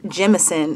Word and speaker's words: Jemison: It's spelled M-A-E is her first name, Carol is her middle name, C-A-R-O-L, and Jemison is her last name, J-E-M-I-S-O-N, and she's the best.